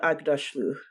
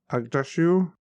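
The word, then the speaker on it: Aghdashloo: I mean, because that actress, I can never pronounce her name. Shora Agdashlu. Agdashu?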